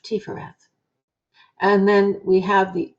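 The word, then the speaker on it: Tiphereth: We pronounce that PH as an F, Tifereth.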